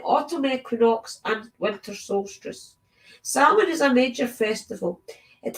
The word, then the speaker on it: Samhain: Samhain, usually pronounced Samhain, is one of our 4 greater Sabbats, the highest holy day of witches.